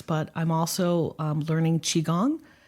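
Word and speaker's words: qigong: my meditation practice but I'm also um learning chiong it's spelled Qi g n and what I've learned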